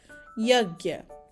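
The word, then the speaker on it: यज्ञ: Y sound in yellow and gear sound forms together to sound like yagya, yagya. So we pronounce this as yagya.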